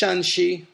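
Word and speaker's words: Shanxi: the pinin system of romanization but one is pronounced shanii that first tone first tone and the other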